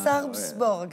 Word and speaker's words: Sarpsborg: Contre cette équipe que je vous laisse prononcer Sarpsborg. Sarpsborg, c'est comme ça qu'on dit.